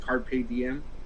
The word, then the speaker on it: carpe diem: but it's in latin it's actually pronounced carpe diem and a7x actually made